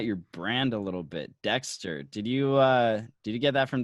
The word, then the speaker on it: D3XTR: His name was Dexter. So my brand really like started off spelled D3XTR. And over the past year, I shortened it to D3XTR, but it's still pronounced Dexter.